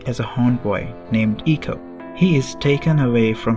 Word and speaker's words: ICO: Ieko or Eco depending upon whatever you want to call it. though the actual pronunciation is Eco rather than Eeko.